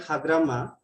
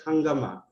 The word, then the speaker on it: Hagrama: Some certain words like hagrama is pronounced differently as hangama. This kind of error can be termed as visual error because due to the close visual resemblances of it with the Hindi word hangama, it usually happens with